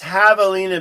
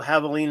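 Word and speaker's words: javelina: So, it's pronounced Havalina because the J is a hot in espanol. And so, Havalina is pronounced without the J.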